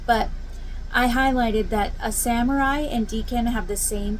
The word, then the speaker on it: samurai: I was using um, sumare. I think I said sumare. It's a samurai.